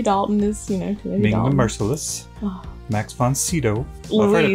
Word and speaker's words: von Sydow: Max von Sydow. Well, I've heard it pronounced a couple of ways, like Max von Sydow, Max von Sydow.